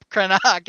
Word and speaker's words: Krennic: Krennic. No, Krenak if you use the original Coruscanti pronunciation.